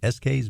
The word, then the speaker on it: Eskay's: Sarah is a Long Islander, and she's the owner of Eskay's Music Lessons in Syosset, and that's spelled Eskays. It sounds like the initials Eskay, but it's not.